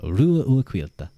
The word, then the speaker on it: Ruadh: Ruadh is how you would pronounce it.